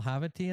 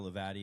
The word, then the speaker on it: Levati: Kyle Havitt, I'm sorry, how do you say Kyle Havity and Associates? Kyle Levati and Associates.